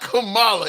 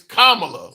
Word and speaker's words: Kamala: It's not Kamala, it's Kamla. Like the like a comma punctuation, comma la commla.